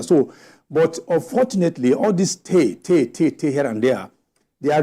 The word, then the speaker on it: Ter: So they have village chiefs, the village head they call Te. Te is spelled T-E-R.